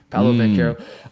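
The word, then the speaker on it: Paolo Banchero: me they got me saying it right already paolo van caro um i that came out of my mouth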